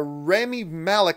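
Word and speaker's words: Rami Malek: he wasn't there but now I Robot star Remy Malick I believe is how you pronounce his name the Emmy award-winning actor from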